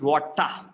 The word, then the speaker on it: water: in british english r if the r is coming in the end we replace it with a longer vowel sound ah ah sound is schwa sound so water is water and night we do